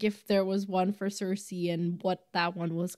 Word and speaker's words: Cersei: much yeah but also Cersei rhymes with thirsty which I think is